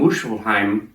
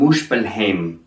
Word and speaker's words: Muspelheim: have in the past today you'll hear heimdall on time niflheim and muscleheim these are the germanic pronunciations of these words however today we'll be pronouncing them heimdall niflheim and muspelheim these instead are the icelandic pronunciations and are more close to the original ancient pronunciations you're going to hear